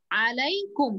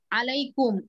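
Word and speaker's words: عليكم: আলার শেষের উচ্চারণটা ইয়া উচ্চারণ হয় যেমন আসসালামু আলাইকুম এই ইয়াটা উচ্চারণ হচ্ছে কিন্তু আমি যখন যখন শুধু আলা বলছি তখন লাম উচ্চারণ করেই শেষ হয়ে যাচ্ছে ইয়াটা উজ্জ্ব থাকছে কিন্তু যখন সর্বনাম যুক্ত হয় যেমন আলাইকা আলাইকুম আলাইকি আলাইহা তখন কি ইয়াটার উপরে সুকুন পড়ে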